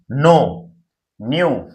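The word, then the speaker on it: known: नो न्यू। नॉन है ना क्या हो जाएगा नो न्यू और नोन मतलब के क्या रहता है साइलेंट रहता है लर्न लर्न लर्न ठीक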